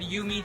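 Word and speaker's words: Jumi: You're at Yumi cheese. That's spelled J U M I.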